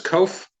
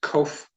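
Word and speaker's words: qof: certainly cover that later next letter is cuff has a k sound kof this is a tough one this is somewhat of a Gutt roll back of the throat or top of the mouth it is pronounced in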